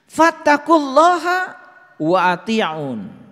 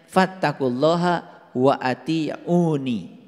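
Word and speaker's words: فاتقوا الله وأطيعون: Fattaqulaha wa ati'un. Nah, ini sebetulnya dibacanya harusnya fattaqulaha wa atiuni.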